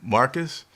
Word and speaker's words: Marquis: Yeah, no updates on Marquise, actually is how you say it, and then no updates on J.C.